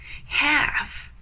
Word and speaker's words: half: have the word half half fifty percent right half So when you say have please never pronounce the L the L is silent